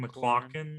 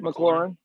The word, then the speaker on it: McLaurin: decent wide receivers with Terry what's his name, McLaughlin, or how do you say it? McLaurin.